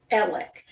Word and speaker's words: Alex: His first name is spelled A-L-E-X, Alex, but he goes by, are you ready for this? Alec.